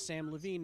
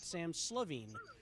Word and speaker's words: Samm Levine: I said to the crowd, my name is Samm Levine, not Sam Slavine. True, because there's no S on the first part of Levine.